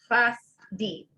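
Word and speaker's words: חסדי: Chasdi. The two dots underneath something is like a glottal stop, so you know you're going to be stopping on that consonant. So it's chasdi.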